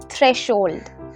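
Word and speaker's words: threshold: চৌকাঠকে ইংলিশে বলা হয় থ্রেশোল্ড থ্রেশোল্ড দেখো এইচ আছে কিন্তু এইচ টা উচ্চারণ হবে না আমরা বলবো থ্রেশোল্ড সিঁড়ি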